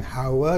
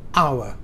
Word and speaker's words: hour: tulisannya huruf mati betul Tapi bacanya bukan How tapi a ya Nah ini dimulai huruf mati tapi bunyi hidup maka di Bacanya adalah a bukan Ha Ya tapi a Nah jadi kalau dilihat